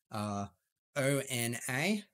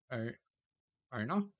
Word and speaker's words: Ona: onto a coffee tangent, ONA is a brand that I always pronounce ONA, but then I found out it's pronounced ONA, like HONOUR, which is cool.